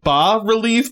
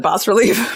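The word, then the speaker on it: bas-relief: I'd heard it pronounced bas relief, but I believe it is pronounced bas. It's spelled bas relief. Yes, yeah. But I think the S is silent.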